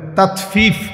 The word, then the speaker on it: তাতফিফ: শব্দের অর্থ হলো এমনে তাতফিফ বাংলা শব্দটা বুঝছেন নি উচ্চারণটা ত আকার তা তত ফ দীর্ঘিকার ফি ফিফ এই তাত ফিফ এই হলো শব্দ অর্থ